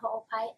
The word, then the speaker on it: Ho'opai: Ho'opai. Can you just slow down, please? Right there. -A-N-Y-A-H-O-O-P-A-I. S-O-O. H-O-O-P-A-I. H-O-O-P-I. Yeah, the last name is Ho'opai. Ho'opai, okay, I got Ho'opai. Ho'opai.